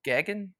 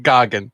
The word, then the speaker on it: Goggin: How do you say the last one? Gagan? It's Goggin. Goggin.